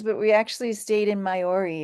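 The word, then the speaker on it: Maiori: to several towns but we actually stayed in mayori it's spelled m AI o r i and the reason we picked mayori was that it's a very flat walkable Town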